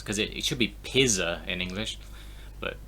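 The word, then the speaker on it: пицца: So this is pizza, like in Italian. Because we use a Z in English, even because the Z is used in Italian, because the Z is a ts in Italian, but it's not a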